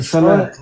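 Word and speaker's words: صلاة: Салат пишется. Пишется салат, но произносится саля.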